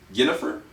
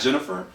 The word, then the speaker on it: Ginnifer: I think it's Ginnifer, not Jennifer. Goodwin.